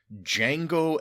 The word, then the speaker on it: Django: But the baby's name is Django El Tahir El Siddig. Ooh, like Jango Fett? No, like Django Unchained. Ah, cool. The D is silent.